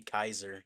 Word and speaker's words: Caesar: I guess it should be Kaiser. Kaiser salad. It's supposed to be like Julius Kaiser. That's how you say his name.